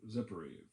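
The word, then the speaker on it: Zippori: where jesus grew up sephiroth's zippery how they pronounced it over there and probably that's where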